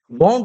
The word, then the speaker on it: wound: और दूसरा जो होता है वाउंड रोटर होता है, वाउंड रोटर बोला जाता है। इसका स्पेलिंग जो होता है ये होता है, सॉरी, वाउंड रोटर होता है, ठीक है?